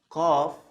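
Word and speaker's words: قاف: So it's like the K, but you have to also to open your throat a little bit. So it's qaf.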